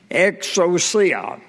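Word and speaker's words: ἐξουσία: And I looked that up, and the word that is translated power is pronounced exousia, E-X-O-O-C-E-E-S-E-E-A-H.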